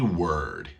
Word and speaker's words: word: e every every every word every word remember bird has the exact same sound as word actually there's a song